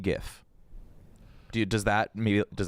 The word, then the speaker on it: GIF: Like the guy that created the GIF says it's pronounced GIF.